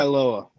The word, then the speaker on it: Tagovailoa: How do you pronounce his last name? Tua Triskaidekapobia. Tagovailoa.